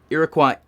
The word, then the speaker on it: Iroquois: Iroquois is how you pronounce that word.